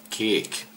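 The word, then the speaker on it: kék: blue color er catch see how they say it he cake not catch kick kick and then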